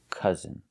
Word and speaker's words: cousin: Again, we see OU not making the ow sound, but the sound is cousin.